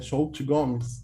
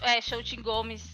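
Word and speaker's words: Xochitl Gomez: Shout Gomes. Que assim se pronuncia o nome dela. Shout Gomes.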